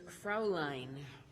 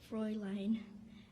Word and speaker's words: Fräulein: Your word is Fraulein. Fräulein. FRAULEIN. Fräulein. Correct. You pronounced it better than I did.